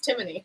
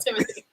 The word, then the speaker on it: Timony: It's Timony, not Timothy. Timony.